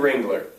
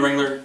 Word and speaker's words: Ringler: one of the divisions has been dominant it rhymes with gingler i call them the rings all right the aces have been in the wrangler two years and they've